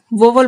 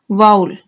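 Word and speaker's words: vowel: तो नाउन के first letter का साउंड यदि वाउल साउंड हो तो इसे सामान्यतः लोग वोवल बोलते हैं, जो कि गलत है। इसका सही प्रोनाउंसिएशन है वाउल।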